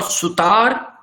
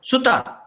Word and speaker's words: sutar: Here there are two vowels. One and two. Therefore, it is short. It is not sutar. No. Sutar. Carpenter.